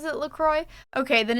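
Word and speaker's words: LaCroix: Isa says, "I'm pretty sure the company pronounces it LCroy."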